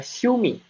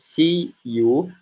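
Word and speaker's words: しゅ: nah selanjutnya ini ada syumi syumi syumi Nah di sini di depan ada huruf si yang ditambahkan Yu kecil sehingga dibacanya syu Jadi bukan si u namun suu syu Mi Nah selanjutnya ada a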